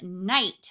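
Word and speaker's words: knight: spell new words and here is the word night we have a silent K in the beginning night has the I long I and then the T sound so let me try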